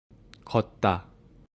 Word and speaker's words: 걷다: So there's a pronunciation rule saying that 디귿 sound is following another 디귿 sound, then it should be tensified, which means this second syllable 다 becomes 따, not 다.